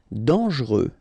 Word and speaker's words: dangereux: Dangereux. Final X not pronounced. And then don't really pronounce this E here. Okay, so you get dangereux.